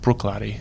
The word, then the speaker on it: Bruichladdich: of Glenfiddich I love Bruichladdich and it is pronounced Bruichladdich for those wondering and then am wrote so